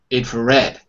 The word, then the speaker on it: infrared: and fat rent and the mark is all the red that means the stresses of the last syllable is over right and ferret infrared if array and a friend yeah that's actually much better yeah we almost don't hear the first two syllables we hear the red strongly more stronger than the others okay very good very